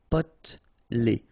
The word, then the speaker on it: potelé: Okay, here you don't really pronounce this E. Potelé.